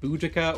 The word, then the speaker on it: Boudica: My girlfriend got a book about, well, there's two different ways of pronouncing this name. Boudica or Boadicea.